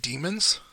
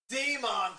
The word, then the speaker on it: Daemon: Daemon pronunciation. Demon! No! It's demon! It's demon! No!